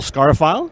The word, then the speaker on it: Scarfile: sir i'm uh scarfile that's just like it sounds yeah exactly yep yep